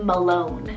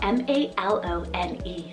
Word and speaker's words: Malone: heritage behind it so this is the name malone spell m-a-l-o-n-e malone now this one means descendant and in